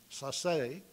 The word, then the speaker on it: Sasse: And Professors Sasse, actually, is how you would pronounce his name, Sasse, and Professor Burton, Edward